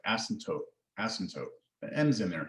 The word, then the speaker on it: asymptote: Asymptote. The M's kind of silent and the P's kind of silent. It's like asymptote, asymptote.